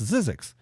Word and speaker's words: Zzyzx: way to Vegas but couldn't really know how to how to pronounce that it's Zzyzx and it's not as easy yzx but you know and